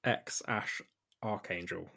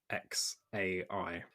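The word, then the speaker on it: X Æ A-Xii: they argue over it elon musk has said it's pronounced x-ash archangel and grimes has said it's pronounced uh x-a-i good well the nice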